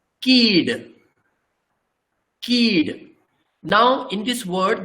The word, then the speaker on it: Kidd: When there is only one vowel, in Konkani, the pronunciation is rather long. It is not kid, it is keed.